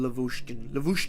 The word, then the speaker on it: Lavochkin: Dorian Lavushkin. Yeah, that's how you pronounce it.